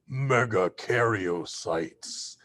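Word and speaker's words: megakaryocytes: loud voice are called meggaariotes because that's a large word meggaario six syllables.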